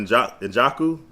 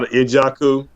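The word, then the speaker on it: Njoku: You talk about Njaku, David Njaku for Cleveland. Yeah, No, Ijaku.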